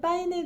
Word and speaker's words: Paine: 여기서 잠깐 제가 이전 영상에서 파인네 파이나 빠 뭐 좀 발음이 중국 난방이었던 거 같아요. 근데 스페인식으로 파인의 그란데 산장이라고 하겠습니다. 저는 오늘 칠내 현지 시각 1월 27일 아침 7시에 파이네 그란데 산장에서 출발했습니다.